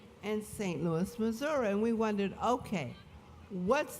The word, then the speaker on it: Missouri: tongue it changed to Missouri. Missouri. Missouri became Missouri. Now I ask you, which one is right and which one is wrong? The French pronunciation, Missouri, or the Native American pronunciation, Missouri.